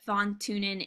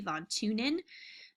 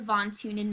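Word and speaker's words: von Thünen: transportation cost is what thawne TuneIn is based off of sometimes i save on TuneIn but i think it's supposed to be Vaughn tune in the H is silent like silent like Neanderthal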